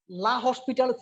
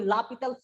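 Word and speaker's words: L'Hôpital: তো তোমাদের বইয়ে তোমরা অনেকে বলো লা হসপিটালস রুলস, বা উচ্চারণটা হবে তোমার কি লা পিটালস রুলস।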